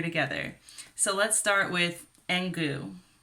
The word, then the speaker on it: Engoo: so let's start with engu i think it's called engu it's spelled e-n-g-o-o put it over here and goo i sound really texan